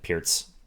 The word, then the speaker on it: Pirc: Yeah, fun fact, it's pronounced Pirc rather than Pirc.